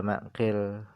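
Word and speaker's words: معقل: beliau meriwayatkan anqil daripada makqil nah cara baca maqil ini bagaimana bifathil mim dengan dibaca fathah mimnya wa kasril qof dan dibaca kasrah qofnya maqilil bin yasarin bin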